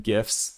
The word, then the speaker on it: GIF: I don't like when gifts like go this fast. Yes, I say gifts with a hard G.